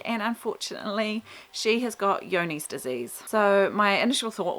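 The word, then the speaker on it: Johne's: was written down and it is not spelt with a Y like I sort of suspected it would have been. It is spelt with a J, and it must be like a European name. So it's Johnes. So I thought it said John's disease, and it wasn't until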